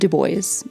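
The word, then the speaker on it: Dubois: to Trail Lakes Trail head just south of Deo and yes that's how the locals pronounce it Trail Lakes would be our endp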